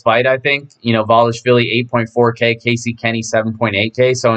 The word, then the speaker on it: Merab Dvalishvili: I'm sure I butchered that, but Dvalishvili. I think the D is silent.